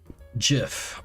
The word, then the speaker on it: GIF: GIF. Like the peanut butter. The creator said so.